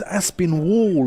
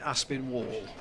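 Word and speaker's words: Aspinwall: that into the covers I believe he is Aspen Wall as well I wonder if it's a silent W in there a bit like written or the like wrong we were told yeah we were told definitely Aspen Wall came from said but School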